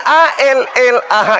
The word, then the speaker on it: Allah: Itulah tulisan A L L A H, itu kaidah bacanya itu Allah.